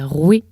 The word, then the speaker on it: roi: Par exemple, en phonétique, la prononciation esthétique du mot roi, c'était roué. C'était la populace qui disait roi, comme on le fait.